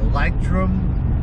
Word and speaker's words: Leuchtturm: there is a german company it is called lightroom 1917. these are a little bit pricier and i think it's spelled probably a little wrong here but it's